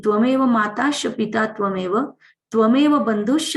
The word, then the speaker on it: त्वमेव: एक तो सीख लो, अच्छे से बोलते आता है तो ही बोलना, वरना बहुत लोग ना गलत बोलते, तमेव तमेव बोलते, तमेव नहीं है त्वमेव है।